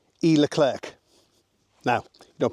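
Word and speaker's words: Leclerc: to and it's called el cler now you don't pronounce all the letters on that you don't pronounce the first D and you don't pronounce the last C uh so it's just L Clair now um we use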